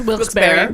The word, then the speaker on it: Wilkes-Barre: Pronounced Wilkes-Barre.